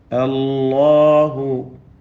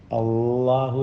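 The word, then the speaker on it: الله: അല്ലാഹു ഇസ്മുൽ ജലാല ശ്രദ്ധിച്ചോതുക. അള്ളാഹു എന്ന നാവിൻ്റെ അറ്റവും പല്ലും മുൻപല്ലും ചേർത്ത് ഓതരുത്. തെറ്റാണ്, തെറ്റാണ്, തെറ്റാണ്.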